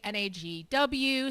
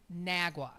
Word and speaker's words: NAGW: Uh some people will say an AGW, some will say Nagwa. Where I'm not sure where you get the woo from, um but it is pronounced Nagwa, okay?